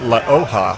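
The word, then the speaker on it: La Hoja: to say it so you have to say it La OHA which means the leaf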